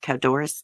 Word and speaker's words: Codorus: Let's see if I can pronounce this. Codorus Township. That's how you say it. Codorus Township.